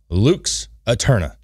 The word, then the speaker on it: Lux Aeterna: Luke's Aeterna.